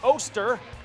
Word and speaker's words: Oster: It's Jack Oster. As Dan Pearson writes, it rhymes with toaster.